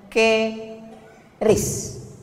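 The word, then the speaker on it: QRIS: mall ditulis ada namanya ke ris qis Kis. Cara bacanya gimana sebetulnya? Keris.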